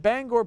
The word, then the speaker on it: Bangor: made a bet with Bangor PAS Brooke Kerzner it's actually pronounced Bangor out in Pennsylvania and if the New